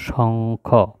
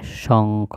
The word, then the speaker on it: শঙ্খ: করব যেমন এটা হলো স উমখ শঙ্খ এটার নাম হবে শঙ্খ সহ উমখ শঙ্খ আর এটা হবে পঙ্খি